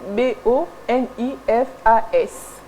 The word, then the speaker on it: Boniface: Et le deuxième boniface, là c'est pour les hommes, ça s'écrit B O N I F A S.